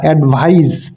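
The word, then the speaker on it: advise: এখানে প্রোনাউন্সিয়েশন বা উচ্চারণেরও একটু পার্থক্য আছে। যেটা নাউন হবে অর্থাৎ শেষে সিই থাকবে, সেটার উচ্চারণ হবে অ্যাডভাইস, এবং যেটা শেষে এসই থাকবে, অর্থাৎ ভার্বের শেষে যে এসই থাকবে এটার উচ্চারণ হবে অ্যাডভাইজ।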